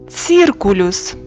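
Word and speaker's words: circulus: ягода повторюємо бакка буква Ц вимова ц к циркулюс Круг повторюємо циркулюс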